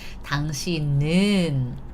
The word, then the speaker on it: 당신은: So 당신은, 당신, however, the bottom consonant moves next all the time, right? If there is a circle, it always goes next, right? 당신은, right?